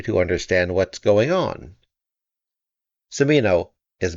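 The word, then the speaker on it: Cimino: understand what's going on simino is B on hubub I must say I hope it's pronounced samino the settlers are bizarrely homogeneous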